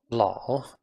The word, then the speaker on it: 老: Again, made up of two syllables or two characters, the first of which is 老. 老. 老 lao on its own has its own meaning, which is old.